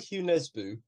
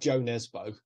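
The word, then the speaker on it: Jo Nesbø: No, I really like Hugh Nesbo. It's spelled Joe Nesbo, but it sounds a bit weird. Joe Nesbo, but I think you pronounce it Hugh Nesbo.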